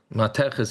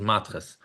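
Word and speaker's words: מתכת: Mateches is the real way to pronounce it. The yeshivish way to pronounce it is matches, metal.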